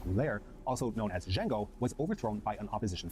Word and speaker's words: Jango: a hard language a known also as D Jango with a J not a d military circles were suspicious of Jango due to his radical